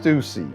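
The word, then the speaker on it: Stüssy: and then Stussy right stucy stucy my bad yeah it's pronounced stucy my oh you know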